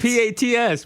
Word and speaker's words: Pats: you call them the Pates well do it you're going say say it right you can't be both p a TS Pats it's Pats it's spelled the Pats that's the Pates how do we get